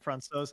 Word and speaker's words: Francouz: Denver Post with the pronunciation. Thank you for that. So yeah, Francouz.